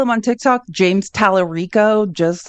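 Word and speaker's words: Talarico: And his name is just, if you want to follow him on Tik Tok, James Talerico, just like it's spelled T A L A R I O.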